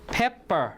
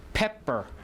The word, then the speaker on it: pepper: i pronounce it right pepper pepper right so the first p is aspirated so it's with an h on it and then the next p is unaspirated so pepper right pepper